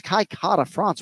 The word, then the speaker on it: Kai Kara-France: a kiwi or Brazilian it's kaikata France with a rolled R every day of the week if you can do